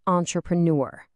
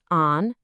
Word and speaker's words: entrepreneur: It is not entrepreneur. Let's break this beast down into little pieces, nice and slow. It's entrepreur. Let's put it together.